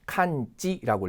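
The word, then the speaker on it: 完治: 그다음 보면 이제 우리가 완치 같은 경우에는 칸지라고 읽거든요.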